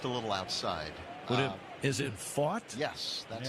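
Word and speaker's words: Pfaadt: Is it fought? Yes, that's how he pronounces it. As in, he fought the law and the law won.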